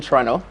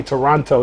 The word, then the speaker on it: Toronto: And he was like, bro, you cannot say Toronto. The second T is silent.